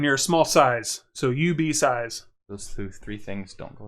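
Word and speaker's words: UBeesize: Not IB Size, UB Size. Yeah. UB Size is U, the letter, BEE, size, like you get a small size of something.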